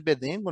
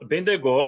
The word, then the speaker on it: Bendegó: O meteoro de Bedengo, né? Igual você falou, caiu em 1784, né? Não, Bendegó, né? Benegó, desculpa a pronúncia errada.